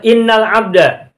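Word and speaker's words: إن الحمد: teks silakan lihat ke layar lagi itu cara bacanya adalah innalhamda Kenapa innalhamda pertama huruf hamzah nya ada di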